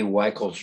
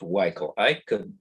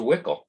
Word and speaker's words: Weichel: Their name is pronounced Weichel. I must have dreamt this, but I thought I remember Kay telling me, no, Gary, it rhymes with nickel. It's a Wickel. But I confirmed with Dennis by telephone this morning that it's Weichel.